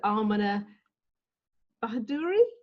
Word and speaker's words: Ameneh Bahadouri: So today we've got yoga and meditation with Ameneh Bahadouri. Am I pronouncing that correctly?